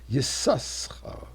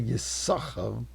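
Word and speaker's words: Issachar: Sin, Sin, Chaf, Resh, which should be read, should be pronounced Yisaschar. But we don't say that. We say Yisachar. There is a silent Sin.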